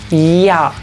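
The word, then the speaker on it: ja: Sin embargo, y me adelanto aquí un poco, la J en alemán es un sonido como una I, pero tratando de curvarse hacia una J. Entonces uno lee esto ya, ya, ya.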